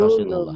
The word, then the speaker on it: Rasulullah: Lafaz Allah dibaca tebel kalau sebelumnya baris atas tuh domah ya. Ya. Rasulullah tuh ya dibacanya Rasulullah.